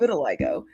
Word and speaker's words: vitiligo: they wouldn't understand it's vitiligo yes pronounced as if you're saying little i go but it's vitiligo and they didn't understand